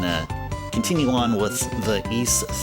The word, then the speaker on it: Ys: I mean I mean I called this game Wanderers from Wise from way back then.